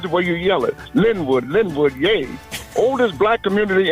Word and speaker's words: Lynwood: Born and raised in Lynwood Park. L Y N W O D. That's the way you spell it. This is the way you yell it. Lynwood.